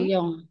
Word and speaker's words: 안녕: Angyong. Anjing. 안녕. Oke, good. Angyong. Ini ada A, ini N, ini G, dan Yo ada eng di bawahnya.